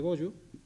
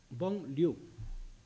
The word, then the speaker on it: Bollo: Este es el castillo de Bollo, del Bollo, que el Bollo es como pronunciamos nosotros, pero en realidad es Bon Liu. Lo que pasa que a nosotros, como lógicamente no sabemos francés, y yo tengo la teoría de que eso es construcción de los templarios, igual que Troya, la explico en el libro esa teoría, nosotros pronunciamos Bollo, pero Bollo no, en realidad debería ser Bon Liu.